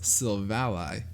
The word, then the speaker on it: Silvally: New Jersey robots taking confirmed via the anime it is pronounced silvally for those who don't know uh what do you